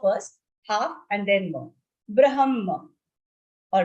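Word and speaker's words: ब्रह्म: Third one, third charan, second word, munir brahma. So when you say brahma, ha will be half, comes first and then ma.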